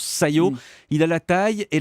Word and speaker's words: SCiO: Ça s'écrit S-C-I-O, mais on prononce Sayo.